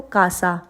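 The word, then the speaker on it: casa: रहे हैं जैसे कि हम बोलते हैं इसको कासा लेकिन आई है यहां पे तो हम इसको बोलेंगे सीएन क्योंकि हम स प्रोनाउंस करेंगे इसको हम बोलेंगे कोमो क्योंकि ओ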